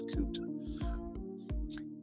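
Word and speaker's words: Cote: C O T E. I don't know if I'm supposed to pronounce that differently, but it's Coot. Mechwarrior Coot," he said, wondering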